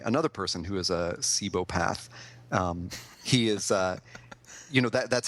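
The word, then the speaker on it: cibopath: And up until I looked this up today, I was pronouncing what he is as a chibopath. But when I looked it up today, I guess Wikipedia told me it's pronounced cebopath.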